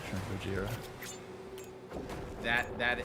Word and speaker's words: Gojira: James Hetfield, Dimebag Darrell, and why am I going to say his name wrong? Joe Duplinter from Gorija. Who's that? From Gojira.